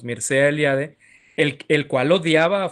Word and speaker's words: Mircea Eliade: se llama mircea eliade se debería pronunciar marcha pero digamos mircea eliade el el cual odiaba